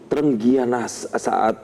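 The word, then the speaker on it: trengginas: Dan pemirsa, pengamat sepak bola Fernand Huta Barat mengatakan bahwa timnas Indonesia U23 harus bisa terengginas ya bacanya.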